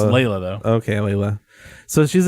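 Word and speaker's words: Leilah: her name is Layla, but they spelled it wrong. Oh, they spelled it wrong? They spelled it differently, yeah. Oh. It's Layla, though.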